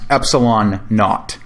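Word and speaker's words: ε₀: with a subscript 0 which is often simply pronounced epsilon naught epsilon naught can be computed from K by this equation K equals 1 over the product of four times pi times epsilon not so what is epsilon naught epsilon naught is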